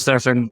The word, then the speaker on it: Stephen: opportunity to talk to stefen it's spelled like Stephen it's pronounced Stefan everybody get it right